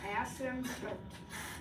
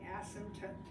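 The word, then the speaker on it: asymptote: ASM toote before the word does have a p in it but the p is silent so it's ASM tote okay ASM toote and an ASM toote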